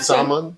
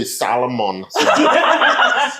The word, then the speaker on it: salmon: Some salmon. Salmon. My mother would say salamon. They pronounce all the letters, right? All the letters.